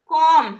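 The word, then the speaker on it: comb: कॉम हां ठीक है। तो इसमें क्या साइलेंट है? लास्ट में जो बी है वो साइलेंट है।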